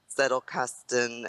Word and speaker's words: Zettelkasten: And then I found like through that I found out about Zettelkasten, and I'm sorry, I'm pretentious and will pronounce it the German way because I took German in college.